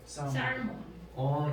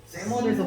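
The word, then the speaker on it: salmon: 발음 어떻게 하죠? 쌀몬. 얘는 묵음이에요. 세먼이라고 하거든요. 살몬. 세먼에서 보인다.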